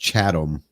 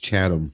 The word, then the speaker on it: Chatham: uh Chris Su says the Chatham it's actually pronounced chadam no h chadam County oh chadam okay so we've been [